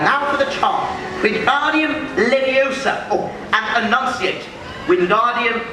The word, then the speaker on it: Leviosa: you go then windardium leviosa and again windardium leviosa good uh Mr weasley wardium leviosa stop stop stop you're going to take someone's eye out besides you're saying it wrong it's Leviosa not Leviosa all right do it